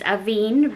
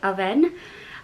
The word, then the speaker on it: Avène: how to pronounce this i thought it was avine but french they say it aven this is very high